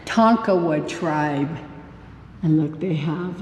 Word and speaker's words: Tonkawa: Susan says it right, Tonkawa tribe.